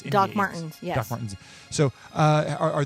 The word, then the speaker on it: Martens: I don't have to scroll back because I'm horrible at pronouncing. But like you've heard of Dr. Martin's India Doc inks. Martens, yes.